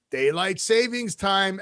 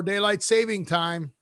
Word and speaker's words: daylight saving time: Yes, there's no S. It's not plural. Daylight saving time.